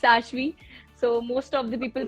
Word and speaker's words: Ashvi: It's not Ashvi, it's not Ashwini, it's Ashvi. So most of the people pronounce my name very मतलब in a very cringy way.